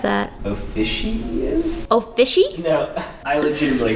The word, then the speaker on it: Ophiuchus: Officious? Oh, fishy? No, I legitimately have no idea how to say this. That's because it doesn't matter. Let's see what Google says. Ophiuchus.